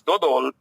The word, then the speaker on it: dodol: But personally, I prefer dodol to bibink. Okay. How do you pronounce it?